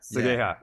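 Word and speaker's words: Seigaiha: Is that how you pronounce it? Yeah, Sagaya.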